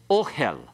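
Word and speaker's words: אֹהֶל: Okay, ohel. Ohel is, and notice the accent has to be on the O part there. Don't say it the other way. You'll sound like you're swearing. All right. Ohel is the word for tent.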